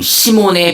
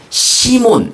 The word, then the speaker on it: 시몬: 예수께서는 그들 중 시몬의 배에 올라타 그에게 배를에서 조금 떼어 놓으라고 말씀하셨습니다.